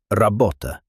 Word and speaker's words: работа: Another difficult sound is r. Russian uses a rolled R much more often, like in работа, which in English means work. Many English speakers avoid rolling the sound because it feels uncomfortable, that even a small roll improves pronunciation dramatically.